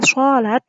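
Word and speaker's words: صلاة: Sedangkan short sama dengan bunyi huruf SH seperti kata sholat yang kemudian dibaca seperti kata salat kalau dalam bahasa Indonesia. Tapi kalau kita membacanya itu dibaca A-nya jadi O. A yang pertama di salat tadi salat gitu. Jadi kalau dibaca menjadi sholat gitu. Mengandung sedikit unsur O gitu ya.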